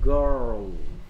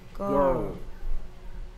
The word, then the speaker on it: girl: 한국 사람들이 조금 발음하기 어려워해요 girl girl K I는 I E O I E O